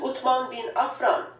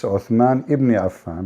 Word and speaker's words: Uthman ibn Affan: As you can see, title states Al-Musaf Al-Sharif, attribute to Uthman bin Affan, the copy of Al-Masad Al-Husseini in Cairo. So Yeah. Cairo You know, she said the name wrong. It's Uthman ibn Affan, but it's okay.